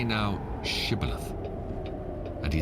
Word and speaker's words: Shibboleth: If he say nay, then said they unto him, Say now Shibboleth. And he said, Sibboleth, for he could not frame to pronounce it right.